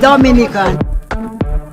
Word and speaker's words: Dominica: it's rum punch time oh we call it Dominica and I I it is not Dominican Republic it is pronounced Dominica and it's situated between Guadalupe and